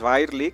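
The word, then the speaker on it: Birley: podría ser Útil es eh virely birly eh yo creo que la pronunciación es virely que es un es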